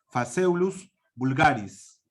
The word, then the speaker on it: Phaseolus vulgaris: La P y la H se pronuncia como una F, por si acaso, en latín. Phaseolus vulgaris.